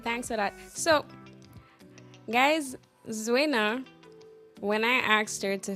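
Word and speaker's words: Zuwena: So the proper pronunciation is Zuena. I get Zuena. I get Zuena. I get Zwana.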